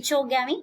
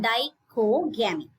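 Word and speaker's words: dichogamy: a dyke Oh gammy how to pronounce this Dyke Oh gammy it's not the Cho gamming it is die Oh gammy right so die kogami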